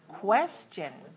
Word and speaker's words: question: have the hidden one question when we have a letter q u we have two sounds k and wha question question question question